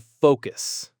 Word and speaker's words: focus: if you're not careful with the vowel sound, and that's the word focus. Oh, this is a big one. I hear this mispronounced so often, and it can really change the meaning into something very offensive, actually. It really can. So, a lot of learners, especially Spanish speakers, tend to shorten that O sound in focus.